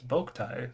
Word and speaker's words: Boktai: It's Boktai. That's how you Boktai.